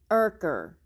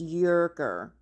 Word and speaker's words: Urker: Even Ken has corrected her in saying Urker, but she refuses to say the correct name. It's Yerker. It's Yerker. Even though Ken says otherwise, he has corrected her on video publicly. That is not how you say it.